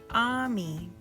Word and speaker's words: ami: words in this book Ami friend in French you say it like this ah me Belle beautiful in French